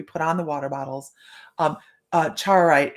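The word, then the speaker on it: Charoite: Chaurite, it is Chaorite.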